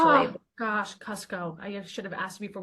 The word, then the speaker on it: Kucko: Katie Schubert, but we also have a special guest today, Cuco. I'm saying your name right, last name right, correct? It's pronounced Cusco, actually. Oh, gosh, Cusco.